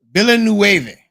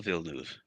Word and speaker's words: Villeneuve: pronunciation is horrible. You can do it. Villanueva. Circuit Gilles Villeneuve.